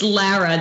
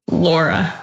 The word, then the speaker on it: Lara: and I think it's it's Lara not to correct you earlier too but not Laura right it is it